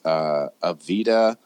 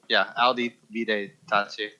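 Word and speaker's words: Audi, Vide, Tace: Evve. Not even close. Say how would you pronounce that? Yeah, What? It's supposed to be a U, so that's just, Audi Vide Tachi.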